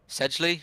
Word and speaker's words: Sedgley: Sedgley, is that how you say it?